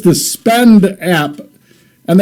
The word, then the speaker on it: SPEDN: All right, it's the Spend app, and it's spelled SPEDN, kind of the hodl or hold trend that we have.